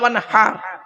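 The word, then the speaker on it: وانحر: কি ভুল দেখুন, ইন্না আতাইনা সূরা পড়েন, ইন্না আতাইনাকাল কাউসার ফাসাল্লি লিরাব্বিকা ওয়ানহার, ফাসাল্লি লিরাব্বিকা ওয়ানহার। এই গলার ভেতর থেকে হেটা উচ্চারণ করবেন।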